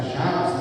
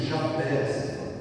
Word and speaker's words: Jabes: No início do versículo está Jabes, né? E aqui Jabés. As duas pronúncias estão corretas.